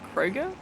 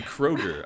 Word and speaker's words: Kroger: Kroger? It's supposed to be Kroger. I said Kroger, like Frogger. Kroger. like some crawfish or something. Yeah. But I went to Kroger, and I got the wrong donuts.